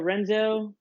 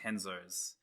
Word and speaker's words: Renzo: I'm at the Renzo Gracie gym. Do you do jiu-jitsu as well? I do jiu-jitsu. Of course you do. So this place, it's actually I should help you out here. It's pronounced Henzo's.